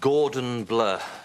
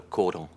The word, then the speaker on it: cordon: And your Gordon Bleu, shouldn't that be cordon? Pardon? No, cordon. That's French.